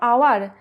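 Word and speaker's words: hour: আর এখানে দেখো আওয়ার, তো আমরা দেখো এইচের উচ্চারণটা কিন্তু হয়ের মতো হয় না, কি হয় আয়ের মতো হয়, তাহলে অ্যান আওয়ার অ্যাজ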